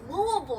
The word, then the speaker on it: Louisville: from Louisville he's like that's not how you say it it's Louisville I'm like who would ever